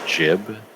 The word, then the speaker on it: gib: about that uh is the word jib GI B uh like when you're talking about getting uh jibed in Quake or other Quake like games has explicitly been said to be pronounced with the soft J sound uh because it is a shortening of giblets because you blow up into giblets oh my God yeah